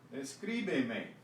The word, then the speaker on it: escríbeme: Escríbeme. We added a syllable. We want to keep the stress in the same place, so we add an accent.